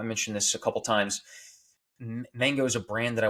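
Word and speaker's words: MHANGO: projects I'm working on Mango I mentioned this a couple times mango is a brand that I want to create that's mango it's spelled mha NGO mha for mental health awareness and then what I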